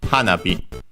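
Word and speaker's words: 花火: This word is a compound, a strictly Japanese compound, accented on the first syllable, in this case, hanabi.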